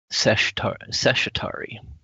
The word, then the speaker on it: Seshatari: Seshatari. Okay. It sounds like Chitauri.